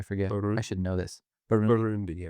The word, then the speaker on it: Burundi: Burundi. Yeah. Burundi, yeah.